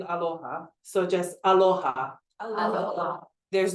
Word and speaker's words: aloha: Aloha. So there's no U in aloha.